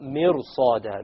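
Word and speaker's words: مرصاد: Mirsa is difficult, because the sad requires your mouth to become itbaq, like isti'la. So therefore, the ra, when you make it heavy, it makes it easier to pronounce the sad.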